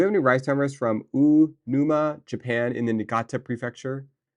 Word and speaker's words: Uonuma: Um, do we have any rice farmers from Unuma, Japan, in the Niigata Prefecture? U O O Uonuma, Niigata.